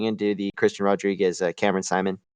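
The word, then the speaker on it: Saaiman: the the guy what's his name Simon right not Seaman yeah it's I mean Seaman is not in a terrible pronunciation but it's it's so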